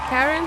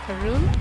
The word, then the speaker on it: Karen: My name is Karen. Some people pronounce it Karun.